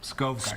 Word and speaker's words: Skovgaard: Long O. Skovgaard.